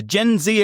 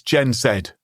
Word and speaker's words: Gen Z: eyewatering tariffs, China has responded forcefully with the Gen Z equivalent of a strongly worded letter to the UN, a social media video trolling America. It's Gen Zed, Mark.